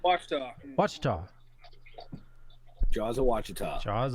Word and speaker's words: Ouachita: And it's Jaws of Wichita? Did I say it right? Ouachita.